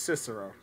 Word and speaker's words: Cicero: B is actually pronounced Cicero.